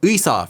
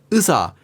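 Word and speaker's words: 의사: this happens especially with the diphthong ui which often becomes pronounced as just uh. So the word uisa for example meaning doctor could just become usa or the word odi meaning where could become udi.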